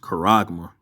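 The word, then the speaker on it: χάραγμα: So mark is pronounced charagma.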